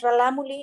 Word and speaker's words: rarámuri: mismos rarámuris en realidad la manera correcta en la en cómo se dice es re la mula nada más que es un error auditivo que se ha pasado de generación en generación rarámuri significa corredores a